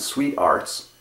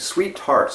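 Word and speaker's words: SweeTarts: You can pronounce it Sweet Arts, but that's kind of hard and tank. Sweet Tarts is what we used to always call them as kids. And that's what the way you're allowed to pronounce it.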